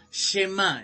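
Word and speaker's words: Shema: lo repito nuevamente un ritual que se llama chema que más se escribe ese h&m a un acento la llama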